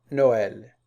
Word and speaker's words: Noël: Plus rarement, c'est rare qu'on trouve le tréma sur le E ou bien le U, pour signaler que la voyelle précédente doit être prononcée séparément. Exemple, Israël, Noël.